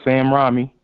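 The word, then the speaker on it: Sam Raimi: to see all three Spider-Man talk about there Sam Ramy that's how you say it Sam Ramy or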